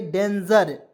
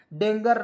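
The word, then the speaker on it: danger: ए एन जीई आर तो इसे पढ़ेंगे डेंजर ठीक है डेंगर नहीं पढ़ेंगे डेंजर पढ़ेंगे दोस्तों ठीक है डेंजर इस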